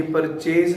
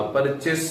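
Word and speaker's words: purchase: ये परचेज नहीं होता, परचेस होता है। क्या पढ़ते हैं इसको? जो PURCHESE है, that is pronounced as परचेस, परचेसेस।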